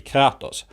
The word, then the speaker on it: Kratos: Quick tangent, the proper Greek pronunciation of Kratos would be Kratos, but the choir always stays to the English pronunciation.